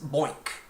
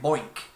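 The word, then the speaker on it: BOINC: this slide this is boink rhymes with oink right boink and it stands for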